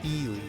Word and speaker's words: Ely: miles then they want to take the right Ely is that how you pronounce it Ely used to live in Nevada nice see Tracy has a gallon thanks for joining me today so Ely so it's pronounced Ely alright got you this thank you for